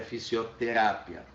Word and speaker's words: fisioterapia: Então a minha sílaba tônica aqui é fisioterapia, tá?